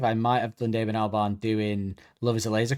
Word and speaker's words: Albarn: Albarn.